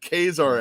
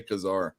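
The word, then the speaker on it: Ka-Zar: let's get some good quesar action or some people say kazaar yeah it says khazar yeah i mean i think it's i think it's pronounced kazaar and in his own run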